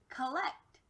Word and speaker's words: collect: for the real word collect my friends you'll notice that this change from ah to uh we call that a schwa remember ishwar happens when it